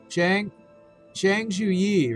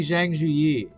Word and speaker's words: Zhang Zhuyi: Zhang Zhuyi, really. I was saying Zhang Zhu, but it's actually Zhang Zhuyi.